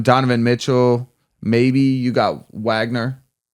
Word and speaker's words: Wagner: Mitchell maybe you got Wagner or Vagner I don't know how you say it he's he's Vagner he's German right yeah this matchup might